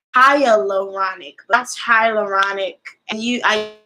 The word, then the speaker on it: hyaluronic: wash my face and then I used a higher banach higher pronounced actually not correct go with that high hat its hyaluronic last hyaluronic and you I used a hyaluronic